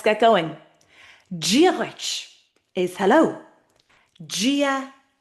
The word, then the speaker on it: Dia: Gia. And there's a reason why the D sounds like a J. Some people might say Dia to be fair.